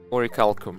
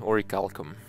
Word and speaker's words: orichalcum: gather what we had oricalcum right that's how you actually pronounce it origalcom um the longer potions